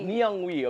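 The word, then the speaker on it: Nyungwe: they young person young and we Nong we Nang we okay so if you guys don't know Nang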